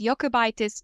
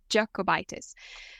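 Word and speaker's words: Jokubaitis: are both proud lithuanians so the way I pronounced her surname is the correct way it's yokitis not jitis so welcome to this episode willia thank you very much agna associate professor yokitis heads the neuroimmunology genomics and prognostic group uh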